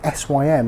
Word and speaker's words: SYM: are normally used at sim events and shows where simmer showcasing their products or displayed in dealerships i keep saying sim i should say sym that is the correct way to pronounce it but either way i